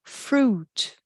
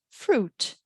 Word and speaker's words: fruit: you i ai juntas quando a gente tem palavras com essas duas letrinhas juntas a gente fala eu não pronuncio a let it um terno né uma uma vestimenta mais social é um Sud tem aquela série de TV acho que é Suits que são ternos suds suco Fruit então é não pronuncio a let it Fruit Cruz Só uma curiosidade